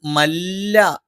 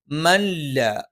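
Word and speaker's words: مَن لَّا: മൻ ലാ യസ്അലുക്കും, ഇവിടെ മൻ സുക്കൂനുള്ള നൂനിന് ശേഷം ലാ വന്നു. ഇദ്ഗാമുൻ ബിലാ ഉന്നയാണ്, മണിക്കാതെ ചേർത്തോതണം. അപ്പൊ ഇവിടെ ചില ആളുകൾ മല്ല എന്ന് പറയാറുണ്ട്. അതിനു പകരം ചെറുതായിട്ട് നൂനുണ്ടെന്ന് തോന്നിക്കുന്ന രീതിയിൽ മല്ല മല്ല യസ്അലുക്കും അജ്റൻ, യസ്അലുക്കും.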